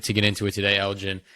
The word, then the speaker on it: Elgin: people elevator pitch uh my name is Elgin um I go by lgn as an artist or Elgin it's pronounced the same way um I am a